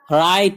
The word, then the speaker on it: write: WRITE right یہاں W silent ہے.